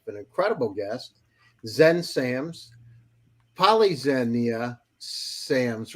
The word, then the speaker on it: Polyxenia: And it's with great honor that I have an incredible guest, Xen Sams, Polyxenia Sams, right? Is that the Greek That's pronunciation?